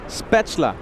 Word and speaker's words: Spätzle: How do I pronounce it? Spätzle.